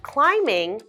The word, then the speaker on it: climbing: don't say climb Bing Let's Pretend the B is not there instead let's pretend it's an m i n sound so I love climbing mountains our last sentence